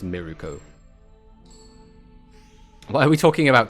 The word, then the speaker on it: Mirko: The rabbit hero Mirako or Mirko, which is pronounced Miruko.